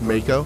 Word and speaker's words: Mako: It's pronounced Mako.